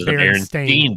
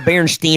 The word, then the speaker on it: Berenstain: See, I thought it was spelled Stein, but pronounced Stain. I'd always heard of Berenstain. Bears. I heard Berenstein or Bernstein.